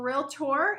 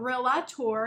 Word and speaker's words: realtor: realtor yeah yes for real tour it's not real lot tour yeah you see an